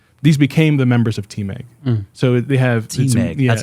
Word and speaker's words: TMEG: church these are these became the members of Team egg so they have teammates that's how you say